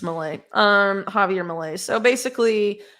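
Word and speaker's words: Milei: or Malay Malay Malay at least in Spanish it's Malay um Javier Malay so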